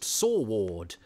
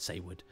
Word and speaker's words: Saward: Eric Sayward, I used to think, it's a funny name, Sayward, and I certainly used to think it was pronounced Saward until I saw a documentary about a true